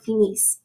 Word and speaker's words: finissent: finissez, il et elle finissent. So you're not pronouncing the ENT.